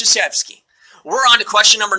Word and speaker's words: Krzyzewski: You might not have realized that that's how his name is said because it's spelled Krzyzewski. It's Krzyzewski.